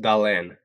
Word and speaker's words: Dahlén: Is it Jonathan Dahlén or Jonathan Dahlén? I say, if you're in Sweden, Dahlén. Dahlén.